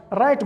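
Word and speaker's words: right: دویم مثال یې لکه رایټ ګوره بیا چې لیکلی دی په آی پسې جی اچ چې راغلی دی دا نه تلفظ کیږي، دا سایلنټ. یا لکه نایټ بیا ویل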